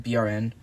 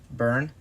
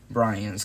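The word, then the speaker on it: Bryn: And by the way, it's pronounced BRN. Burn. I'm a girl. Oh, I thought it was Brian's because there wasn't or like Brian because there wasn't an apostrophe. But burn.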